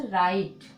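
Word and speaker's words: right: आप जितना याद रखना, जहाँ पे भी जी एच होगा वो साइलेंट होता है, उसको हम लोग नहीं पढ़ते हैं। इसी प्रकार से राइट, ठीक, इसी प्रकार से लाइट, ठीक, क्या है लाइट।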